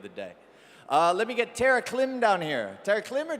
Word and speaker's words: Terraclim: Let me get Tara Klim down here.